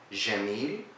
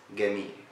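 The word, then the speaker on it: جميل: For example, we said jim in Egypt is g, we say gim. So, jamil becomes gamil.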